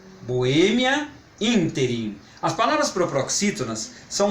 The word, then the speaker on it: Boêmia: ver alguns exemplos só de parar de proparoxítona Boémia e ínterim Boêmia interi as palavras proparoxítonas são mais simples de identificar quanto a pronúncia porque tô como você já sabe em